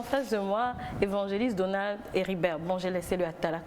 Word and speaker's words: Héribert: Donc Donald Héribert, c'est Héribert simplement, le T ne se prononce pas.